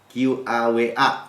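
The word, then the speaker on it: קָוָה: Nah, ini wait ya, bahasanya kava atau ya bacanya kava ya. QAWA saya bacanya, lihat di Ibraninya ya.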